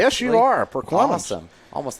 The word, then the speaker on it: Perquimans: He's a sophomore out of Elizabeth City, North Carolina, Perquimans High School, if I'm pronouncing that correctly. Yes, you are, Perquimans.